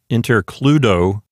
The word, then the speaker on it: intercludo: I know I told you that it was the letter K, but in Latin, the letter C is always a hard C. So it sounds the same as a K.